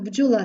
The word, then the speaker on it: бджола: в рядку Де будинок Бджола та Дніпро звертаємо увагу що будинок де вимовляємо твердо А ось бджола вже знаходиться в корені вимовляється як злито один звук G рядок де підходить